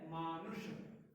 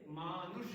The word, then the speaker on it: मानुष: अब हमने देखा इसका उच्चारण, इसका उच्चारण है मानुष। थोड़ा प्रयास करेंगे, मानुष करिए, मानुष मानुष।